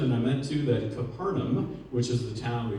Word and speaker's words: Capernaum: was a right so we get to Capernaum as modern pronunciation but the original uh pronunciation was probably kafar not only Tiberius town